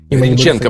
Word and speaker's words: Грінченка: Грінченка, правильно. Імені Бориса Грінченка, да, і наголос такий.